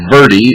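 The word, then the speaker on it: verde: like camping out and verie is spelled v as in victor e r d e it's Spanish and it means means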